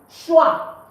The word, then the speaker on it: chois: we have left is schwa. This is it, look at it. Please don't forget, why am I pronouncing it as schwa? Because OI is pronounced as wa in French. So CHOI is schwa.